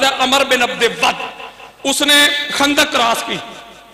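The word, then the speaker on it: عمرو بن عبد ود: Umar بن عبد ود اس کا تلفظ بار بعض لوگ عمر بن عبد ود پڑھتے لیکن درست تلفظ ہے عمر بن عبد ود اس نے خندق کراس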